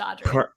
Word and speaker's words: Audriix: tonight we're here with audrey did i say that correctly you did the x is silent just audrey perfect uh so tell